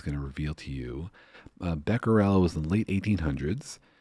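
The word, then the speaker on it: Becquerel: and you have a great story of the Beckel story if you wouldn't mind telling it. It's so interesting. Is that the And maybe I'm getting his name wrong. The uh the uranium photo. Oh yeah. Beckerel.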